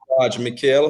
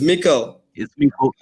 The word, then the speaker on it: Meikle: would like to know who is mikhail hope i'm pronouncing your surname right you know just saying it's mikkel but i'll let you